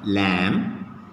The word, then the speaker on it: lamb: b if you take the letter b is silent in some of the words okay how can we